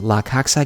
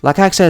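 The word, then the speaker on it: La Caixa: so this is the I think it's pronounced LA coxa game boy lacaxa is basically just a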